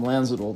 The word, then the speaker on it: Lanzadel: Also, I considered popping in for a visit with Mr. Tom Lanzadel. The D is silent.